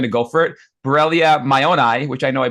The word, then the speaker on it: mayonii: Borrelia mayonii. If you're trying to remember how to say it, think of Mayo, like Mayo Clinic. Like we named it after the Mayo brothers.